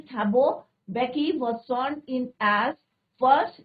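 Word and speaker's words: Mbeki: एम इसमें silent रहेगा बच्चों. बेकी. और इसके बाद किसका नंबर आया था?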